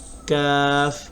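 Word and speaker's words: ق: ত য আইন গইন ফা কফ কাফ। কফ হলো গম্ভীরভাবে এবং জিহ্বার গোড়া তার বরাবর উপরে তালুর সঙ্গে লাগাইয়া।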